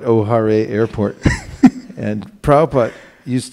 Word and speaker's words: O'Hare: Chicago you know what the name is Chicago Airport is Ohio it's spelled Oh ' har-ee music of course call it O'Hare Airport and proud I